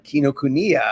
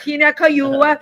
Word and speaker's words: Kinokuniya: You're in Barnes and Noble and that bookstore that I can't pronounce again. Kinokuniya. Thank you, and honey. Bryant Park. Kinakayua.